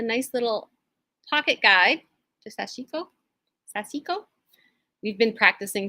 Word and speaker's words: sashiko: thread in white to do that and some sashiko needles. Very nice. I'm thinking ahead to Christmas things, and I have a nice little pocket guide to sashiko.